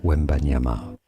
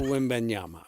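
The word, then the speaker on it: Wembanyama: Three syllables. We ban yama. We That's Victor. We wyama. Victor Wimbeanyama.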